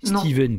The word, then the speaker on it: Stephen: Steven King d'ailleurs, on devrait dire. Ouais. Ouais. Ouais. Si je le prononce à l'américaine.